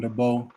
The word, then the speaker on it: DeBow: This is shot by him, DeBow. That's how you pronounce the last name. I just asked him right. Yeah, Debo. Like Friday.